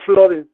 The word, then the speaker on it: flooding: Y la otra, la parte superior hay una línea y le ponen flooding, así se pronuncia, no flooding, se pronuncia flooding. Entonces yo creía que se pronunciaba con U, pero ya con esto,